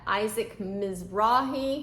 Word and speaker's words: Isaac Mizrahi: Isaac Mizrahi, and these looked cute, and I was finding a lot of swimsuits.